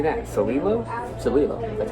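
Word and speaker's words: Celilo: Salilo, that's how you say it.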